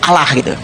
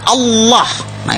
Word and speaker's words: Allah: Cuma dia membacanya, ngejanya beda sama kita. Kalau kita cukup Allah gitu, kayak bercanda sama teman aja. Alah lu gitu aja. tersinggung gitu ya kayak begitu ringan gitu bacanya itu ringan tapi kalau mereka itu terpengaruh dengan bahasa Arab jadi enggak ringan Allah nah gitu kayak orang Batak